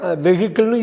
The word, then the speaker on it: vehicle: அந்த ஹச்சை கட் பண்ணுங்க, வெஹிக்கிள்னு யூஸ் பண்ணக்கூடாது, வெஹிக்கிள், வெஹிக்கிள். ஓகே, திருப்பி சொல்லவா? VEHICLE, ஹெச் வந்து சைலண்ட்டு. வெஹிக்கிள், வாகனம்.